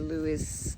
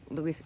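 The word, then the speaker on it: Lewes: um the house two of Lewis he's let me just say it right Louis Historic Society as mentioned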